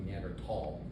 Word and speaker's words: Neanderthal: are tall right so the correct way pronounce would be near tall right on the Meander